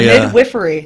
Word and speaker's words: midwifery: But let's start by midwifery. Midwifery. Which I didn't know that That's how you pronounce was it.